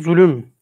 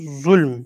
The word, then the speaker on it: zulm: Münasebat-ı uhuvvete, yani kardeşlik münasebetlerine karşı ne derece, evet, ne derece bir zulüm. Bakın fuul kalıbında biz bugün zulüm diyoruz ama aslında zulm, yani fuul kalıbında, yani lamda mimde cezimli gibi zulm.